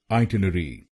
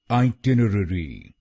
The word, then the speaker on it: itinerary: इस शब्द को हम दो तरह से बोल सकते हैं। पहला है ब्रिटिश प्रोनाउंसिएशन और दूसरा है अमेरिकन प्रोनाउंसिएशन। भारत में हम ब्रिटिश प्रोनाउंसिएशन फॉलो करते हैं, तो पहले जानते हैं ब्रिटिश इंग्लिश में इसको कैसे बोलेंगे। ब्रिटिश इंग्लिश में इसको बोलेंगे आइटिनरी। आइटिनरी। इस शब्द में 5 शब्दांश हैं।